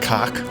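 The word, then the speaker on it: Khaak: It's pronounced cock. So I think one of the games is like literally like the cock threat. Cack threat. I don't know, like if you're being charitable, you can say cack. But that's just saying cock from Southie in Boston.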